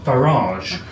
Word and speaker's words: Farage: it's the fact that he pronounces his name farage and not and not how it's written far it's garage not garage unless you've got a butler so that's my problem